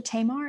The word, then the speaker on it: Tamar: Perhaps you could tell us a little bit about uh it's it's pronounced the Tamar.